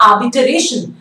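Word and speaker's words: arbitration: अगला वर्ड है आर्बिटरेशन. इट्स नॉट आर्बिटरेशन, र is silent, it's नॉट आर्बिटरेशन, इट्स आर्बिटरेशन.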